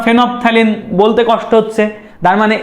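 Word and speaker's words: phenolphthalein: একটা হচ্ছে ফেনলফথ্যালিন বা ফেনপথ্যালিন, আর কি ফেনলফথ্যালিন আসলে বানানটা ঠিক রাখার জন্য বলি, আসলে ফেনপথ্যালিন।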